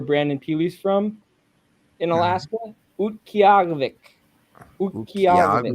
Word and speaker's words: Utqiagvik: Do you know how to pronounce that? You know the city where Brandon Peely's from in Alaska? Utqiagvik. Utqiagvik. Ukiag?